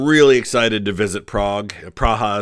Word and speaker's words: Praha: excited to visit Prague praha is how they say it there in cck um we've got a